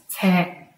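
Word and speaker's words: 車: or context for example car is usually pronounced as te like in volte train and dante bicycle however in some scenarios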